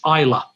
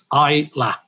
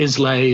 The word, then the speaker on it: Islay: it wrong in america it's isla i la so it's not islay and i've heard every